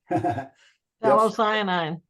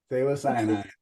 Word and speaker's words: Phthalocyanine: And I put the name of the acrylic paint down here, over here, and I cannot pronounce it, so. Phthalocyanine. Phthalocyanine.